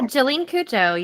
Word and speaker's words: Jolyne Cujoh: Uh, listen, correct me if I say her name wrong. Okay, Jolene. Um, Cooa. Did I say that right? Yeah. Jolene Kujo, you did you did well.